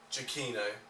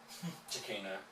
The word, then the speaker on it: Giacchino: it was Giacchino, and it turns out it's Giacchino. Giacchino. Yeah. So as long as you swap the name around. Yeah, it's reversed. Yeah, it's reversed. Yeah. Giacchino.